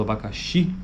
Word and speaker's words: abacaxi: aqui Desse exemplo aqui no caso abacaxi a vogal tônica está lá no final